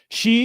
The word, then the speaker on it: Xi: She is pronounced she.